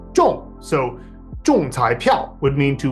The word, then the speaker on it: 中: the character 中, because it's normally pronounced 中, but when you hit a target of some kind, whether it's in darts or like hitting the lottery, it's pronounced 中.